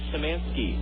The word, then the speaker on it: Szymanski: Szymanski. S-Z, the Z is silent, Y-M-A-N-S-K-I.